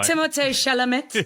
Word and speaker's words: Timothée Chalamet: Starring Saoirse Ronan, Emma Watson, Florence Pugh, Eliza Scanlon, Laura Dern, Timothy Chalamet, Bob... Let me pronounce that for you, Sam. No, don't. I hate the guy. Timothée Chalamet.